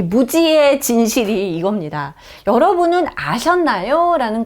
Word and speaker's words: Muzi: 자, 영어로는 이렇게 Muzi라고 쓸 수 있는데 Muzi라고 발음하겠죠. 근데 무지입니다. 무지.